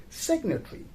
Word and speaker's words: signatory: the letter in but when we change the word form from a verb to a noun or adjective then we do pronounce the letter g so this was all